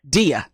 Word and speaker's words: Deya: It's Deya, yeah. Deya.